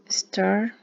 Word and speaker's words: started: Started. Agregamos ed. Resulta que este sonido T antes nos hace que nos suene, esa E nos suena como si fuera una I.